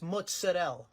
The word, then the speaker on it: mozzarella: Next time you want to say it, it's mozzarella, all right? Not mozzarella. I'm not sure about that. Okay. Come si pronuncia questo formaggio?